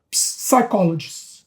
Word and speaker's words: psychologist: a orientação de um psychologist. Psychologist, você sabe que não pronuncia P. Explica, eu ensino em inglês. Você não pronuncia, você não fala psychologist, psychologist, você pronuncia psychology.